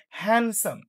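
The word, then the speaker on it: handsome: যেমন এখানে দেখেন আমরা হ্যান্ডসাম নরমালি আমরা কি বলি? হ্যান্ডসাম হ্যান্ডসাম। বাট এখানে দেখেন এখানে ডিটাও কিন্তু উচ্চারিত হচ্ছে না।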